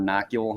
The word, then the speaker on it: nuchal: You're one of the very few people I've heard pronounce that correctly. I only know like 3 words that I can pronounce correctly, and that's one of them. Oh, nocule hump? Yep. Yeah, people call it nuchal.